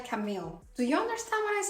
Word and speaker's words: Camille: I keep saying Camila because I live in France and that's how you would pronounce this name, but I think in English it should be Camille and I have been saying Camila all throughout all of my Camille Rose videos.